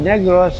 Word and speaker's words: Negros: So sinabi ko, Old Negros, it rhymes with old people.